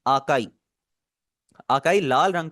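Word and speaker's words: 赤い: इसकी आवाज आ है। इन्होंने आगे एक्सप्लेन किया हुआ है। जैसे फादर के अंदर आ की आवाज आ रही है। बिल्कुल इसी तरह आपने इसे प्रोनाउंस करना है।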